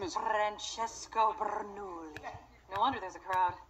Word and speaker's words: Bernoulli: his name is francesco bernoulli no wonder there's a crowd wait why do we know his name we don't say it like that it's three syllables not ten what he's nice to look